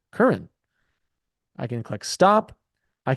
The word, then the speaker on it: Curran: And I could say, hello, my name is Curran, and you pronounce it Curran.